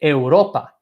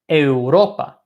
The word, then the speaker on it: Europa: at Europe for example Europe has three syllables we have a roll ba a row ba so let's sync load up the second last syllable is in this case the second syllable right if we have three syllables in the word ropa the second last syllable is our second syllable so that is the syllable that we emphasize we say Europa Europa no every time I